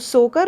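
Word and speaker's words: Tso Kar: हैं लद्दाख में सोकर ये यहां पे टी साइलेंट है तो सोकर और सोमूर यह सभी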